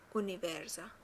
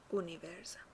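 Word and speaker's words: univerza: اونیورزا، اونیورزا. توجه کنید که یو تلفظ میشه، او تلفظ میشه. اونیورزا.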